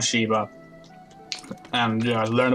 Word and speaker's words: Shiva: Shiva was easy because, you know, it's written and pronounced the same way as the god Shiva.